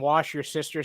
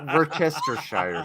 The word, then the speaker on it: Worcestershire: If you dunk some wash your sister sauce in your hair, it'll kill your integrity. Oh, It's pronounced Worcestershire sauce.